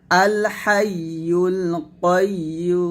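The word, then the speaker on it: الحي القيوم: করবেন জিহ্বার মধ্যখান তার বরাবর উপরের সঙ্গে লাগিয়ে উচ্চারণ করতে হবে আল হাইয়ুল কাইয়ুম কাইয়ুম নট কাইয়ুম কাইয়ুম বলবেন না কাইয়ুম এখন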